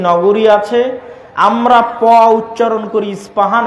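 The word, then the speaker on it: Isfahan: আছে আমরা পচ্চারণ করি ইস্পাহান আরবিতে এটা উচ্চারণ হয় না আরবিতে হয় আল আসবাহানি বা উচ্চারণ হয় ইসবাহান বাসবাহানি সেখান থেকে 70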